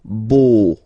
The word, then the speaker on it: beau: So remember this E, A, U combination of vowels only give you the sound O, beau, okay, le beau-père.